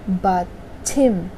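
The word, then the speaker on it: 받침: कैसे प्रोनाउंस होगा, बाछिम, ठीक है।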